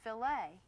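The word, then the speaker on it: filet: It's pronounced filt.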